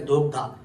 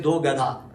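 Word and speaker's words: दोग्धा: Say it as Dogdha. Some people say Dogadha.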